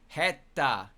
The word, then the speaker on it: 下手: 下手 Heta. That's how you pronounce it.